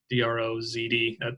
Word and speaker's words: Drozd: So again, last name Drozd, D-R-O-Z-D. That's me saying it the way it's spelled, so that people can see it.